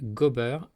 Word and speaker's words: gober: En vintais, l'infinitif du verbe faire et gober avec des variantes de prononciation, donc gober ou bien gobir, gober, gebir, etc. mais toujours avec un G au début. On ne dit pas ober.